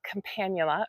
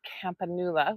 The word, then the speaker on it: Campanula: In today's video, I'm going to be talking about Campanula or Campanula, which is right next to me, depending on how you say it, or cup and saucer, sometimes also a common name for it.